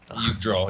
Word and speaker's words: Yggdrasil: I'm pretty sure the J is pronounced as a Y. Yep. Draw? Yggdrasil, yeah.